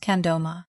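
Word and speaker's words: mkha' 'gro ma: Their Tibetan name is Mkahahgroma, pronounced Kandoma.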